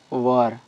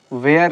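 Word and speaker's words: were: Second क्या हो जाएगा, वाज वर, इसको वेयर नहीं पढ़ेंगे, वर पढ़ा जाता है इसको, ठीक। प्रोनाउंसिएशन इसका वर होता है।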